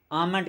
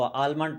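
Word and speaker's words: almond: बादाम को आमंड कहते हैं। याद रखिएगा, ये जो एल है ये साइलेंट होगा, ये नहीं पढ़ा जाएगा। बाज़ इसको आलमंड पढ़ते हैं, आलमंड नहीं कहना, आपने आमंड कहना है।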